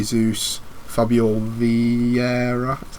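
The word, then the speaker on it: Vieira: alex anderson chancol and gabriel j zeus fabio v herrera that's how you say his name and then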